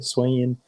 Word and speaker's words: Hisuian: That's how you say it, Hisuian region.